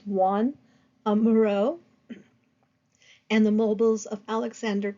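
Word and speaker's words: Joan Miró: organic forms a one it looks like Joan but it's pronounced Juan amuro and the mobiles of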